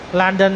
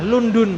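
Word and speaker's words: لندن: jer landana ya landana dan bacanya landan Kenapa pakainya karena orang Arab itu mengikuti dengarnya orang Eropa bilangnya gimana kalau kita kan bacanya London ya Ah London kita ngir itu pakai damah lundun bukan bukan lundun tapi karena mereka tulisannya London itu mereka menakan London London maka dengarnya kan fathah la landan landondan makya fathah landana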